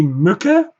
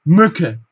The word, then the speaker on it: Mücke: CK verkürzt uns wieder das Ü. Wir sprechen praktisch nur Ö. Ja? Mücke.